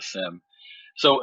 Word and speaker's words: SIEM: it's pronounced sims so you don't uh phonetically put the ie sound in there but it's utilized as